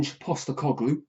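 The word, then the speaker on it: Postecoglou: Now Forest got rid of an Postgloop. That's how you pronounce it by the way.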